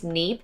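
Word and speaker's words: Kneipp: it's spelled k-n-e-i-p-p and i'm going to assume the k is silent so i think it's neap these are the mineral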